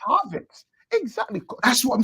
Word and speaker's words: Havertz: Bro, well, you just said Havertz use any kind of nomenclature. You just said Havertz. But again, who's scoring the goals, bro? You said Havertz is on the nail. It's Havertz.